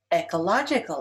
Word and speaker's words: ecological: Ecological is stressed on the third syllable.